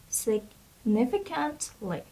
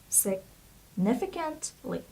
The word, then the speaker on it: significantly: word is significantly significantly okay look at the pronunciation significantly significantly so a stress is in the second syab